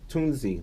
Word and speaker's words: Tunzi: Tunzi, that's how you say her name? Tunzi, yeah.